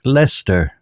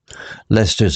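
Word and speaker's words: Leicester: with a map marked with peculiar names like Lester pronounced Lester and gluster pronounced gluster they planned their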